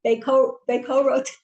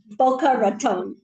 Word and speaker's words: Boca Raton: Bakeroton in Florida. Help me with the word of that. Help me. I can't pronounce it. It's a city in Florida. Spell it. Boca Raton. So I mispronounced it.